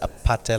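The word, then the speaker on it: APT.: Is it apate like aparte? It's APT, but the way they pronounce it is Apate.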